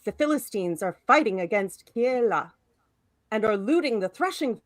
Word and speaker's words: Keila: Now, I will ask, first of all, how to pronounce this name. Keila? Keila.